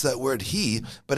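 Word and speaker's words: הוא: funny word light in the place he we pronounce that word he but it's actually spelled who it should have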